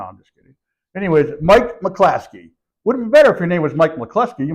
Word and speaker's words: McCluskey: I was told to make sure it's Mcclaskey. Yes, pronounce it properly.